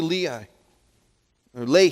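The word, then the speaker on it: Lehi: the rock and when he had come to Lee I lay here's how that's pronounced the Philistines came shouting against him check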